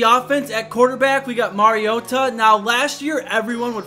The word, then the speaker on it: Mariota: a bunch of announcers were saying his last name wrong and she said it's Mariota so we're sticking with that Marcus Mariota Mariota